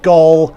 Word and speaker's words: Gol: And I'll also get the obvious joke out of the way about this airline's name, and that it is pronounced Gol, not.